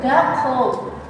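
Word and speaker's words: 学校: Jadi dibacanya itu di doble. Jadi ini bacanya itu gak co.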